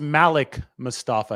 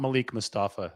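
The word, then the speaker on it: Malik Mustapha: It is actually pronounced Malik Mustafa. It's not Malik Mustafa.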